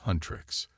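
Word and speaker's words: HUNTR/X: Fast forward to 21st century Seoul and K-pop superstars Hunter/X, pronounced Huntrix, aka Rumi the singer,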